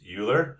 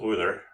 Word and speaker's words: Euler: And we want to go to independent Euler, or I've also heard it pronounced Euler, but whichever way you pronounce it, this is the one we want right here.